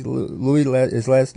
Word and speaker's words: Louis: on soprano Godwin Louis is how you say Louis let is last name yet and Cahill Kwame